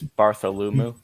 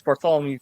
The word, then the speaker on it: Bartholomew: time um who is barthol lumu you know what I'll I'll take it you you got close on the pronunciation it's Bartholomew covin but you are right